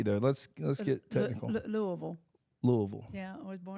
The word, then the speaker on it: Louisville: Louisville Slugger not a Louisville okay say it again Louisville Louisville Louisville but what about the S it's it's you don't pronounce it okay pause it it's